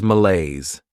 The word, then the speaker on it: malaise: Next is malaise. This word has two syllables and the stress is on that second syllable.